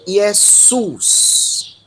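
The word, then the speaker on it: Ἰησοῦς: O ditongo com a presença do Y, ele tem uma pronúncia específica, tá? Ômicron Y sempre vai ser pronunciado como U. Então, Jesus. Jesus.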